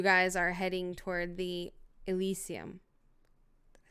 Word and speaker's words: Elysium: And you guys are heading toward the Elysium.